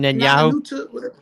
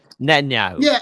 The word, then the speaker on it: Netanyahu: Benjamin Nanyahu Netanyahu.